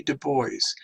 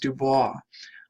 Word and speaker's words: Du Bois: Du Bois. And I know many of you will look at his name and think it's pronounced Dubois.